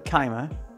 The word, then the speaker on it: Keimer: I went for the Keimer. Yes, I'm saying it like that. I'm not pronouncing it to rhyme with semen.